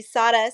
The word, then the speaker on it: Sara: It's spelled Sarah, but I pronounce it Sada, and that's a funny story. In kindergarten, there was 4 Sarahs in my class, and my mom always called me Sada, so I was like,